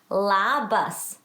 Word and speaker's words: labas: Labas. And I've put a little tick that way so that you know where the accent of the word goes.